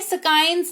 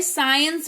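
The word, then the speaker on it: science: साइंस पढ़ते हैं, स्काइंस नहीं पढ़ते हैं, साइंस पढ़ते हैं, विज्ञान या कौशल कह लीजिए।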